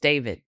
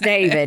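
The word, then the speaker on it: D4VD: Pronounced David. Pronounced David.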